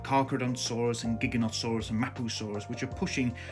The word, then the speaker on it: Giganotosaurus: you going to wear Giganotosaurus I'm not also I've just realized been pronouncing it ganosa orus it's not it's gig gig gig gig gig Giganotosaurus Giganotosaurus number 10 now the most